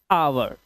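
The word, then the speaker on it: hour: अब इसे ह नहीं पढ़ेंगे। एच से ह होता है। इसे पढ़ेंगे आवर। क्योंकि ओ से पहले आया हुआ एच साइलेंट होता है।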